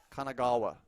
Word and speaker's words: Kanagawa: it's the fun in it is trying to pronounce the city names Kanagawa yeah let me take a look Kanagawa yeah